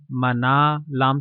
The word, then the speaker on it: منال: ہے۔ تلفظ اور اعراب: میم پر زبر، نون پر زبر، الف کے ساتھ اور لام ساکن، یعنی میم زبر ما، نون الف زبر نا، منا، لام ساکن منال۔ معنی: منال کا مطلب